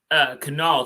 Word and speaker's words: Kanawha: I still butcher it, but Kanawha Trace, how do you pronounce that actual? Canal Trace. Canal Trace.